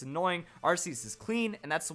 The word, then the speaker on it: Arceus: a buck-toothed snobby kid whenever you hear the art kiyose out there just obnoxious it's annoying our seats is clean and that's the way to go